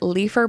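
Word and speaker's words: Leighfer: the immensely powerful businessman from melison and then leafer bendale was described as being like good friends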